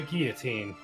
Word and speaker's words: guillotine: or shall we employ the guillotine that's how you pronounce that yeah despite the number of l's you the jury shall